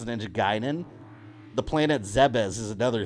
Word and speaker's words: Ninja Gaiden: There was Ninja Gaiden. Some of us had Ninja Gaiden. Now we know it's Ninja Gaiden.